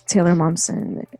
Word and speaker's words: Taylor Momsen: It's Taylor Momsen. That's how you pronounce her name.